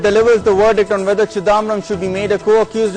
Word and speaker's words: Chidambaram: Well, first of all, I appreciate the pronunciation of Chidambaram as Chidambaram.